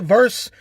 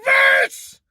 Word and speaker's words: versus: Do you want the Pfizer versus the Moderna? It's not verse! It's a simple thing. Get it right, man. Just because it says VS period as an abbreviation doesn't mean it's verse. Versus.